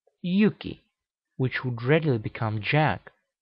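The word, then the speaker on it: Hjúki: names indicate as much huki in Norse would be pronounced Yuki which would readily become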